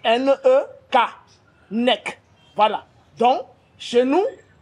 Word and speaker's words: nek: Ça s'écrit N-E-K, nek.